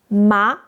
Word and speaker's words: 麻: The pronunciation is start lower than the first tone. The first tone is high. The second tone is lower. You know? Then rise up, just like we did with what in English.